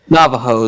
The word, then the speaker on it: Navajo: Navajo. The J is pronounced an H. It's like Spanish.